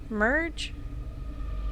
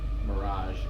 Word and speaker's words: Mirage: Merge? Mirage.